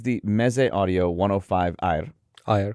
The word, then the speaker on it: AER: AER, correct.